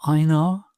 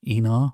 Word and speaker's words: Einar: Ooh, is that Uncle Einar, or Enar, depending on how you choose to pronounce it?